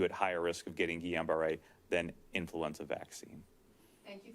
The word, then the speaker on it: Guillain-Barré: So getting influenza infection puts you at higher risk of getting Guillain-Barré than influenza vaccine.